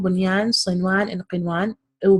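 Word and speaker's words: بنيان: We would simply pronounce the noon as normal. Dunya, bunyan, sinwan, qinwan. Why? Because idgham can only happen between 2 words, and this is within a word.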